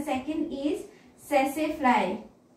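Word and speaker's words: tsetse: वन is human हम लोगों में एंड the second is सेसे फ्लाई. नाम में टी है, टी साइलेंट है, सेसे फ्लाई.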